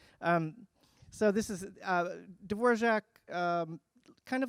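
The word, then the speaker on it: Dvořák: received some music from this kid antonin dvorak pronounced dvor shock it's what it says in the letter and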